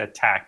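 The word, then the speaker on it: ATT&CK: So MITER is the company and the model is actually called at people pronounce it attack but it's really at Cck.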